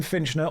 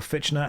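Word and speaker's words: Fichtner: William Finchner, or Fitchner, however you want to pronounce it, is an incredibly underrated actor.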